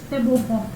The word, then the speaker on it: Tebogo: But the G has the H effect or something. The G at home is ho. Ho. Yeah, that's the ho.